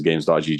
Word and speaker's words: Gam3s: go to the platform itself uh which is games.